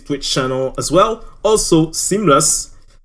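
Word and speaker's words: SeamlessR: Also, Seamless, the R is silent.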